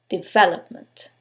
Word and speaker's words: development: the first one development is it the second one development the third one development or the last syllable development in this case it's the second syllable development now you couldn't know